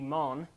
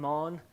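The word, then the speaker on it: מן: It comes from we would actually pronounce the word correctly, it would be mon. We would maybe spell it like lawn, but with an M, mon.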